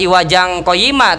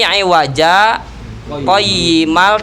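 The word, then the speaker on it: عِوَجًا قَيِّمًا: Bukan iwajang qayyimah tapi iwaja qayyimal tapi tanpa bernapas.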